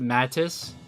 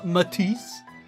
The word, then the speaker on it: MATIS: I before I heard it in English, I always pronounced it Mattis or Mattis. The Mattis squad. Matis sounds a little bit more uh uh sophisticated. Um it's pronounced Matis.